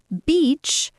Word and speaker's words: beach: Second, pronounce beach with a long e sound.